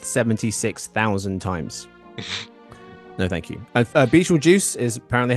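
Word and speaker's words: Betelgeuse: walking around Earth 76,000 times no thank you beel juice is apparently how it's pronounced is also in case you guys are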